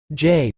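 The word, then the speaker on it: Jai: wanted to do it Jay pronounced Jay had always been my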